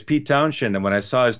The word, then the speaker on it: Townshend: You don't when you say Shend, you don't add an H. It's just you pronounce it like Townshend, Hmm.